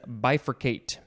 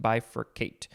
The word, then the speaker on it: bifurcate: word for this episode it is bifurcate or bifurcate uh no maybe it's just bifurcate b-i-f-u-r-c-a-t-e verb from 1615 to cause to divide into two branches or parts that was the transitive definition now we have the intransitive definition to divide into two branches or parts bifurcate is uh pronounced a few ways that is an